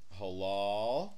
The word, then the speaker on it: halal: We have to learn halal. I know you're in halal. Halal. That means good. Why does it got two syllables? See, halal. Halal. H A L A L.